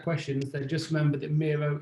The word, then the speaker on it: Miro: they just remember that miro is your hero i mean that's how you pronounce it nice uh i've